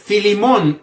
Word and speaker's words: Filemón: Tito siguiente carta es filimón y esta carta se pronuncia de la misma manera filimón la carta del shal shaul